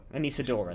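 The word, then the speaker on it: Anesidora: Anisadora, that's how you From the pronounce flight that.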